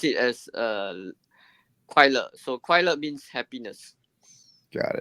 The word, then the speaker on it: 快乐: So in Mandarin is le, is you pronounce it as 快乐.